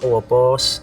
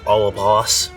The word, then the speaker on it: Ouroboros: Minor detail, but a snake devouring its tail is Ouroboros, not Ouroboros.